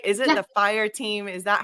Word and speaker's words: F1RE: how are you good I'm sorry did I pronounce everything right is it the fire team is that how you guys pronounce at